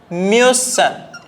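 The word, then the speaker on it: müssen: കൂടെ മ്യൂസൻ മ്യൂസൻ അപ്പൊ ഇവിടുത്തെ ഉച്ചാരണ വ്യത്യാസം നിങ്ങൾ നോക്കുക ഇവിടെ ഇഷ്ന്റെ കൂടെ ഉംലാവ് ഇല്ലാത്തതുകൊണ്ടാണ് ഇത് മുസ് എന്ന് വായിച്ചത് ഇവിടെ മുസ്റ്റ് എന്ന് വായിച്ചു ഇവിടെ മുസ് പക്ഷേ ഇവിടെ എത്തിയ സമയത്ത് മ്യൂസൻ കാരണം ഉംലാവ് വന്നതുകൊണ്ട് ഇനി നെക്സ്റ്റ് വരുന്ന സമയത്ത്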